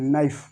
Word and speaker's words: knife: ठीक है, आगे देखो यहाँ पर लिखा हुआ KNIFE, इसको पढ़ेंगे नाइफ, नाइफ, नाइफ।